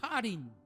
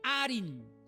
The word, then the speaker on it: harin: raíz de la palabra harin, que significa montes, montañas. Harin, que se puede pronunciar como una J, o también arin, que es la consonante E. Entonces puede ser harin, arin, pero viene del singular, o